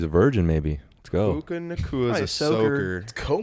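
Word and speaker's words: Puka Nacua: Is that how you pronounce that? Yes, Puka sir. Nakua? Puka Nakua, It's like Cooper Cup Boy was 2.0.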